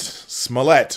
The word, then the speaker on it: Smollett: to the show we've been talking about Jesse Smollett Smollett that's how you say his name so I'm